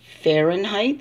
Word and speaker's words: Fahrenheit: It's pronounced Fahrenheit. See how it's got an H here in front of the R?